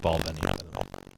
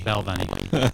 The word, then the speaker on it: Balvenie: It is pronounced Balvenie. Isn't that what he said? No, everyone is using I like me. Belveni.